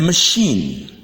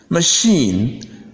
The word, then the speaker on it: machine: despite the silent e I in these words refuse to be sounded I rather it prefers to be sounded e therefore the first word